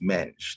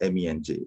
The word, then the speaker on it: Menj: way uh mr eidomir my name is not pronounced mensch it's pronounced me and j please get that correct